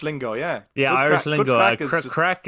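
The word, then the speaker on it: craic: yeah yeah Irish lingo crack is is spelled as C or a i c in Ireland slang for for fun just get it's fun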